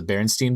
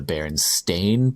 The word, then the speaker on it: Berenstain: go back i think everyone in my childhood knew them as the berenstein bears yep and if you look at the book it is actually the berenstain bears and we were all just saying it wrong so basically it's the